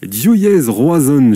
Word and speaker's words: Div Yezh Roazhon: Des Gamermat, vous êtes le président de Diouillez Roazhon, j'espère que je l'ai bien prononcé.